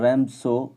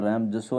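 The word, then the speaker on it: Ramsjö: द रैम्सो iron work, यहाँ रैम जसो नहीं बोलेंगे इसको, जो साइलेंट रहेगा।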